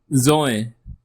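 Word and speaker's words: ظ: Next alphabet is zoy zo zo a deep zed sound.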